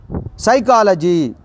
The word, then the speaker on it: psychology: That one is psychology. Psychology, here P is a silent letter.